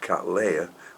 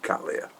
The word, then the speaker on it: Cattleya: it was so my apologies for calling them and cataleya when they should be Kalia and I'll try and